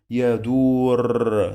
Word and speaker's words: يدور: So we have the sound of ضمة here. يدو. يدو. يدو. We have the sound of O. يدو. But now it's another syllable. So let's change the color to be now in red because it is separated. يدو. يدو. يدو. Long vowel. Do.